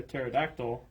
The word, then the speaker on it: pterodactyl: Why can't you hear a pterodactyl go to the bathroom? I don't know. Because the P is silent.